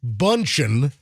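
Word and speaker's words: Bündchen: Now, if you missed the Tom Brady Giselle Bundchen song, the Brady Bunchen, which I can't believe no one had ever done that.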